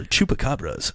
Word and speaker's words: Chupacabras: The Chupacabra or Chupacabra's Spanish pronunciation is Chupacabras.